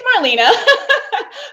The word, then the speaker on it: Marlena: They're like, wait, is it Marlena or Marlena? And I'm like, it's Marlena, but I answer to both.